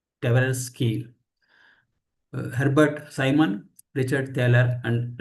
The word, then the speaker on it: Tversky: like Daniel Kahneman, Amos Tversky. I do not know exactly it is pronounced. I think it is Tversky.